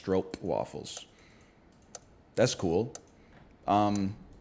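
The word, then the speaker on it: stroopwafel: on the map brother it's actually pronounced stro waffles that's cool um it's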